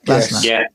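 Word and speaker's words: Glasner: I'll tell you what in last night's game with with Arsenal and Crystal Palace is it's Glasnner, isn't it? Their manager. Have I pronounced that correctly? Glazner.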